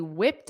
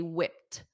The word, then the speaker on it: whipped: okay they whipped up notice that pronunciation because again this Ed is a soft te they whipped they whipped up whipped up but when you combine it with the preposition up it's very very soft they whipped up